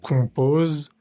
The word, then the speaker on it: compose: s con compos s o m es una vocal nasal. Se pronuncia con la boca muy cerrada, como si fueras a mandar un beso y no pronunciamos esa m individual de la o. No vamos a decir com en español, sino la om va a ser un sonido único.